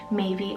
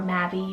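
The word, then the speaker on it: Maevie: have maybe or mavi m-a-e-v-i-e maybe or mavi you can totally go with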